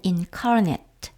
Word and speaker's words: incarnate: 말하죠 지난번 영상에서도 나왔었지만 incarnate 하면 동사 형용사 때는 incarnate 이렇게 발음합니다 자 만약 성육신 하나님께서